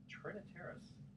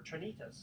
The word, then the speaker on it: Trinitas: Relax in the estate cave as you pamper yourself at Spa Terra, or savor flights of Trinitaris Cellars wine. Or Trinitas, excuse me. I pronounced that wrong.